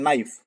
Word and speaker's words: knife: Mean चाकू होता है, लेकिन आप क्या बोलते हैं, नाइफ। के उसमें नहीं आता है तो के साइलेंट हो जाता है।